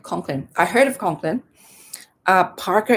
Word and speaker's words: Conklin: Okay, Conklin, is that how you pronounce it? Conklin or Chonklin? Conklin.